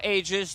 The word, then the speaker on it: Aegis: an answer for ages there was a patch it said the way ages should be pronounced go for it ages AIS yeah we called it Aus before and then I frog said yep n not the way that it should be I think we're going